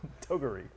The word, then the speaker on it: Toguri: Toguri. No, I think that's the correct pronunciation.